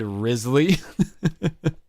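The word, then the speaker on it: Wriothesley: Joe has been trolling people online over the pronunciation of rizzy's name which is really fun I saw a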